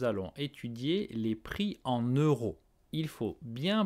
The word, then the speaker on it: euro: faut bien prononcé euros eu ro eux la bouche un peu en avant un peu ronde eu ensuite rupo bien respirer et raw en relâche l'air avec la gorge eu ro alors écoutez et répété